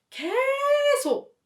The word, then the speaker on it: 계속: In Korea, when you want to emphasize the word 계속, you elongate 개 when pronouncing like 계속.